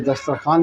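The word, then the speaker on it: دسترخوان: तो खैर बहरहाल ये दस्तरखान लिखा हुआ है, खे को वाव में मिलाया, वाव साइलेंट है, खामोश है, और अलीफ के साथ वो पढ़ा जाता है।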